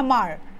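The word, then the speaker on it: Hmar: Rabha missing boro ne mar. Rabha missing moro ne mar. And this is pronounced as mar. Okay, H is silent. Mar buli ko. Hamar na hoy.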